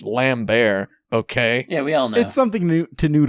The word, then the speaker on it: Lambert: at his most Christopher Lambert Tusk great one might even say he transcambers the Lambert so it's one night it is it is lambertian transcendentalism and yes I know it's pronounced lamb bear okay yeah we all